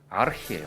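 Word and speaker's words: архи: 알콜도 가고, 몽골 사람들이 지금도 술을 부를 때 하는 이름이 아르히예요. 아르키. 네, 아르히 이런 발음 나요.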